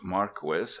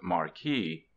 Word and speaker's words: Marquis: a real name not a pseudonym it is pronounced Maris not Marquee I reprint here two of Mr marquis's amiable